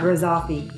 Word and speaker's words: Grizzoffi: Let's move on to Sam Grizzoffi. Is that how you say his name? Yeah, Grizzoffi.